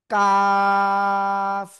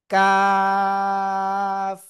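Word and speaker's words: كاف: কাফ চার আলিফ টেনে পড়ব। কোন জায়গা থেকে অক্ষরটা উচ্চারিত হয়? জিব্বার গোড়া এ গোড়া থেকে একটু আগে বাড়াবো। তার বরাবর উপরের তালুর সাথে লাগাবো। লাগিয়ে আমরা উচ্চারণ করব কাফ।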